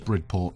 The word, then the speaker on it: Bridport: I'm pretty sure it's Bridport rather than Bridgeport. It feels like it should be Bridge, but it's not.